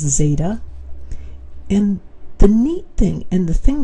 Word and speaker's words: zeta: Notice this value right there is just pronounced zeta.